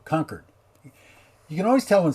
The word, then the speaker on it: Concord: that can't be right concord excuse me concord not concord the chord isn't it's anyway conquered there we go conquered you can always tell